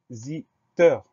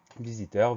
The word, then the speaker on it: visiteur: Le son Z. On va l'obtenir avec un S unique, puisque ce S est cerné par deux voyelles, le I avant, le I après. Donc, il va se prononcer Z.